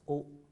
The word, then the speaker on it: au: form a new article a u pronounced as o but if a graph